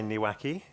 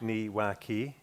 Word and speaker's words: niwaki: Um, you Well, I say niwhacki. Yeah, niwaki. So, you can imagine whacking someone's knee.